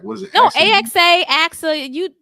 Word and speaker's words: AXA: next thing I know I got hired at ax advisors okay so oh I said a I didn't pronounce it right what was it AXA AXA you it's all good it's all good